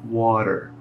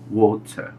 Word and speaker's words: water: inglês né Por exemplo essa palavra que no inglês americano se fala percebo que o t Eu praticamente não pronuncio e o r no final da palavra eu enrolo para fazer então water já no inglês britânico eu falo whatsap water o t ele é mais pronunciado e o r ele deixa de existir ele passa a ser uma extensão do som da última vogal na vogal é então